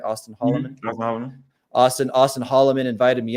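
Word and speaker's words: Auston Holleman: Austin Holloman?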